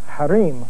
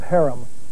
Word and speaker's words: harem: forbidden is haram and the related word harim or as we pronounce it harem refers to the inner